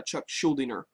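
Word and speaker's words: Chuck Schuldiner: of him was uh chuck schuldener that's how i heard him pronounce his name so forgive me if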